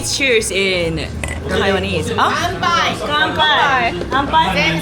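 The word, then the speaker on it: 乾杯: 간바이.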